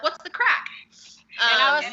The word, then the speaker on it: craic: Yeah, it's crack. It's pronounced crack.